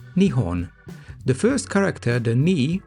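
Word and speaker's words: 日本: These two kanji are pronounced ni and hon, nihon.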